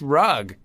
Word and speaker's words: Rugg: because everyone would be like how do you pronounce that rug and I go no pretty much it's rug really you should change it to rug cuz